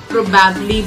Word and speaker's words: probably: But काफी हद तक मैंने लोगों को सुना है इसको probably बोलते हुए. ये उसका गलत प्रोनाउंसिएशन.